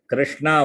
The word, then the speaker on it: कृष्ण: Yes, Krishna मूर्धन्य शकारः अस्ति तत्र. तस्मिन् शब्दे मूर्धन्य शकार. कृष्ण, षण्मुख, षट्पद. तालव्य शकारः तु शङ्कर. शङ्कर शकारः षण्मुख शकारः. शङ्कर शकारः इत्युक्ते तस्य उच्चारणस्थानं तालु. षण्मुख शकारस्य उच्चारणस्थानं मूर्धा, cerebral. Fold your tongue and touch the roof of the mouth.